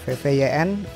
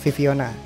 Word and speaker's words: VVYN: Poin pertama langsung aja, lagu ini tidak dibaca VVYN, apalagi Vivin. Ini bacanya Viviona. Kenapa gitu?